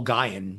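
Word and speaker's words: Gion: and you know I'm a huge Joel Joel Goen is the man. I think it's Gian isn't it? Gian. Okay. I mean in Dig they they pronounce his name Joel Gian.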